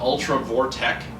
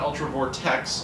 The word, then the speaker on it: Ultra Vortek: very good shape uh Ultra vortek not Ultra Vortex Ultra vort which appears